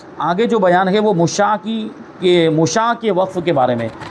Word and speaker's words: مشاع: تو سب سے پہلے تو مشاع کے بارے میں جاننا ہے کہ مشاع کہتے کسے. یہ اس کا تلفظ دیکھیں، مشاع آخر میں کیا ہے، عین.